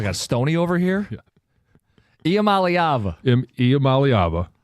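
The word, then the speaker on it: Iamaleava: Imamalyava as people have pointed out phonetically uh looks like I'm leaving.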